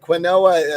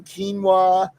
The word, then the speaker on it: quinoa: ingredients, and he goes, "It's got quinoa in it." And I was like, "You mean quinoa?" And of course, then I was the snob because you know how to pronounce. He's like, "Ew, quinoa," and I'm like, "Well, that's how you pronounce it.